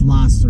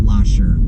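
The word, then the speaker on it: Lahser: It's hard to say, but it's pronounced Losser Road, not Losser.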